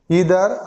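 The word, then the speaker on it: either: Each, every, ইদার আর নিদার, মানে যারা নাইদার উচ্চারণ করে, আইদার নাইদার উচ্চারণ করে, তাও হবে ইদার আর নিদার।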